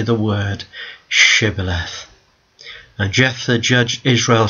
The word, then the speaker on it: Shibboleth: Then they said unto them, "Say now Shibboleth." And they, "Sibboleth," they said. They could not pronounce the word, so they took them, and they slew them there in the passages of Jordan.